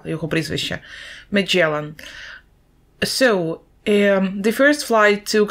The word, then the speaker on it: Magellan: Вимова його прізвища. Magellan.